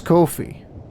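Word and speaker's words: Ko-fi: It's KO minus FI. It's Kofi.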